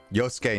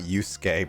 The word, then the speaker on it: Yosuke: Yosuke, not Yusuke, by the way, says Justin.